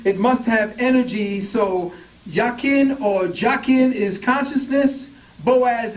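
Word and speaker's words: Jachin: is consciousness and energy the English J is silent and it's y so you got yakin or yakin the root of the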